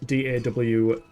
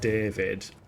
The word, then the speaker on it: Dawid: I've watched a Dawid video, and his name is D-A-W-I-D, but it's not pronounced David, it's pronounced Dawid, but